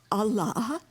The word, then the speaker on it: Allah: not your jailer so the two syllables Allah contain both affirmation and negation all is the affirmative and La is the negative it means no you put them together